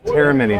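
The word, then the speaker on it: Eremini: Just pronounce the name. Terry Mini. Terramini.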